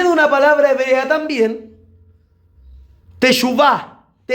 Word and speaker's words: teshuvah: Viene de una palabra hebrea también, teshuvah, se escribe con SH, teshuvah, B corta.